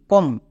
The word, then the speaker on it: come: Well next C ও এমই কম। কম কিন্তু না। সবাই এখানেই ভুল করছো। এখানেই কম করে দিচ্ছ। বাট এটা হচ্ছে ব্যতিক্রম ওয়ার্ড। তাই এর জন্য উচ্চারণ হবে কাম।